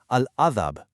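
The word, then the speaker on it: العذاب: When you stop on the word al-azab, you are stopping on the letter ba. You can't just clamp your lips shut and freeze. That totally traps the sound. You actually have to actively bounce your lips open slightly. Al-azab. Seriously, try it with me right now out loud. Move your lips. Close them on the ba, then release with a slight crisp echo.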